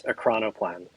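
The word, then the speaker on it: ekranoplan: I I I Googled this and I said pronounce e k r a n o p l a and it's acron plan. Acron and no plan. No e on the end.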